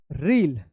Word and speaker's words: reel: अलग उच्चारण होता है, इसको पढ़ेंगे रील, क्या पढ़ेंगे, REEL रील, और इसको पढ़ेंगे REAL रियल।